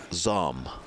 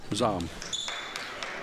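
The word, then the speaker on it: Zohm: Like Ella, how would you pronounce that? Zom. Z-O-H-M, yeah. Okay. Zom.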